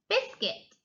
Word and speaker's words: biscuit: Biscuit, biscuit. The U is silent.